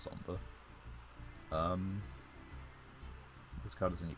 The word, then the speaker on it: Sombre: That's not actually how you say it, it's just Sombre.